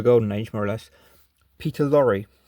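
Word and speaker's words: Peter Lorre: age more or less Peter Lori or Peter Lore I think it's Peter Lori to pronounce it Peter Lori um he should talk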